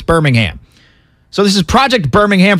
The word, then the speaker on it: Birmingham: I was going to say Birmingham because my family's from Birmingham in England, so that's how I was going to pronounce it, but I got to remember it's Birmingham.